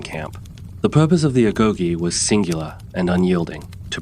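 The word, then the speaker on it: agoge: The very essence of Spartan education was the agogi pronounced ago.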